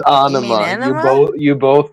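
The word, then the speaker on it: Ænema: It's ana. You both you both pronounced it wrong.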